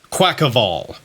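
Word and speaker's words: Quaquaval: like quack quackavel quackaval because I want to say Carnival because he's a carnival dancer I don't want to say quack so quack of all I'm pretty sure that's how it's going to be pronounced ball has objectively the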